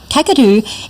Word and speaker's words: Kakadu: Kakadu is actually, here's your hot tip for the day, Kakadu is actually a mispronunciation by non-Indigenous people of a language that was spoken in that area, Gagaju, which is now an extinct language.